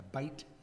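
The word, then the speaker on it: בית: have Bethel here. Yeah, Bethel. That was- The word in Hebrew, the word Beth or Beit, they pronounce it more a Beit, means a house.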